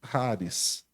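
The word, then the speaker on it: χάρις: Esse é o grego coinê, é o grego bíblico, mas no grego moderno se pronuncia Haris.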